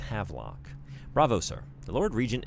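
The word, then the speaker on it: Havelock: I've been putting an extra little schwah syllable in there, but it's Havlock.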